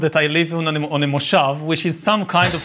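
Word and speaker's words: moshav: a kind of mistake on wikipedia it's a mushaf now it's some it somehow got around that i live in a moshov which is some kind of socialist collective community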